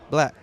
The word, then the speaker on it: 6LACK: It's pronounced black.